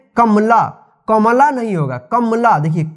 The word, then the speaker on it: कमला: से, कमला, देखिए कमला, क में अ की साउंड आ रहा है, लेकिन म पे जो है अ की साउंड नहीं आ रहा है, इसका उच्चारण जल्दी जा रहा है, कमला, कमला नहीं होता है, इसको पढ़ेंगे कमला।